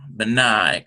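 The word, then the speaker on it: בני: we have today Mitzvah B'nai Mitzvah okay and so all rights B'nai Mitzvah B'nai cuz it's a diphthong notice the sir a Yoda that is a diphthong but I meats alright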